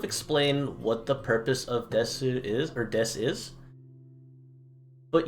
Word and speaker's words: desu: However, there's also this term here at the end, this des, which, again, pronunciation rules, we don't need to pronounce that U at the end. It's just boku wa erioto desu.